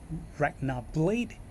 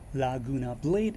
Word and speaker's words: Laguna Blade: a following name um in Japan it pronounced more towards Ragnar blade or in the English translation is known as Laguna blade and this is more